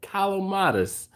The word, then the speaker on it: Calamatis: It's Calamatis. Dude, yeah, I have to say it correctly. It's funny. I can say your name correctly, Calamatis, but I have been calling Alton for I don't know how long.